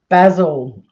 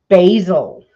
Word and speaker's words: basil: But for those of you who want the official name, it is basil, or as you wacky Americans say, basil.